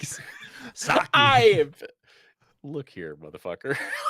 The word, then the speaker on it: sake: Well, I love some sake early Sake. in the morning. I think it's pronounced sake. Sake. You pronounce the E in Japanese.